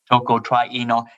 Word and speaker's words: tocotrienol: pronunciation is tocotrienol? Tocotrienol, and it's very simple.